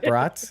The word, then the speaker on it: brats: You have to say brats, like kind of like Rats.